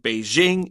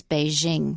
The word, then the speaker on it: Beijing: I have to ask why did you say Beijing instead of Beijing well because we're trying to do an English only article so I use the American pronunciation of be Jing although I probably haven't